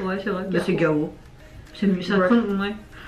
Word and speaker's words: Gaho: En vrai, on prononce très mal son nom. Oui, je sais pas comment. C'est Gao. Gao. Parce qu'il y a un H. Ouais, c'est vrai. Bah, c'est Gao.